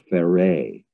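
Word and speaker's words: Pharais: So he started writing a Celtic novel called Fare, and he became aware, it's spelled P-H-A-R-A-I-S.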